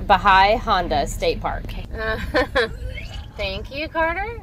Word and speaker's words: Bahia Honda: This is pronounced Bahai Honda State Park.